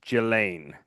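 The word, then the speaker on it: Ghislaine: There's two people besides Jizlane. Is it Jizlane or Gizlane or So I actually Somebody said that the right way to say it is Gilain.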